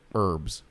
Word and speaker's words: herbs: He's all, why do Americans emphasize the H in vehicles and forget to pronounce it in herbs?